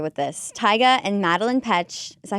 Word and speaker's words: Petsch: Tyga and Madelaine Petsch. Is that how you say it? Yep, Petsch.